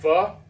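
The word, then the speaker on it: pho: Um, but obviously I'd like to have Vietnamese food, which I like fu. I really like fu a lot. So, I love fu. And it's not spelled like you think.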